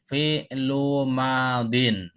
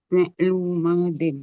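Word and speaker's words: فعل ماض: Perhatikan cara bacanya. Qolu fi'lu madin. Fi'lu madin ya. Cara bacanya fi'lu madin ini.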